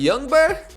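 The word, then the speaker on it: Ljungberg: They had 5-star Freddie Youngberg, apparently you don't pronounce the G, and English great Lee Boyer.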